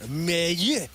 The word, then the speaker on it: Mailloux: Mayu is how you pronounce his last name.